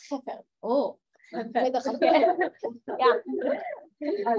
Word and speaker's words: Chefer: Yeah, it's actually in Hebrew. It's Chafar.